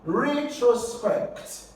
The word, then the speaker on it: retrospect: If a word ends in ECT, Alright? Then you're going to have to stress the third syllable to the end. So here you have re, and then trust, and then pet.